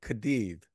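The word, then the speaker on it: Cádiz: me how you pronounce kadid you're doing a great job it's like with a th it's almost like a th it's like a Kad it is season z's are pronounced with a slight th you know sound um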